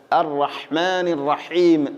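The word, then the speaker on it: الرَّحْمٰنِ الرَّحِيمِ: റഹീം പറഞ്ഞ അതുപോലെതന്നെ അറഹ്മാനി പ്രത്യേകിച്ചും ശ്രദ്ധിക്കേണ്ടത് ഹാ തൊണ്ടയുടെ മധ്യഭാഗമാണ് അറഹ്മാനി അറഹീം അല്ല അറഹ്മാനി റഹീം അറഹ്മാനി റഹീം ഹാ തൊണ്ടയുടെ മധ്യഭാഗമാണ് ഇവിടെയും അതുപോലെതന്നെ ഹാ യിന്റെ ഉച്ചാരണമാണ്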